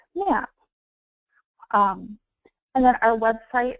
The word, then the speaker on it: MMAP: locations Now power and acronym is pronounced map um and then our